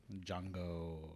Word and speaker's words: Django: Django. Oop. Django Unchained. The D is silent.